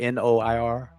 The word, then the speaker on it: noir: French R is not the same as the English R. So it's like noir.